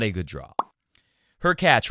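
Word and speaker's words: Khachanov: not a good draw her catch rhymes with latch he is a next-gen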